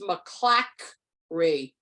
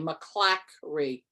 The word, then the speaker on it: McClackry: It's McClackry, like C-L-A-C-K, McClackry.